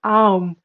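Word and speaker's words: ॐ: And this is the Om, and the Om only, because these three letters, A, U, and pronounced in combination as Aum, may well be the generalized symbol of all possible sounds.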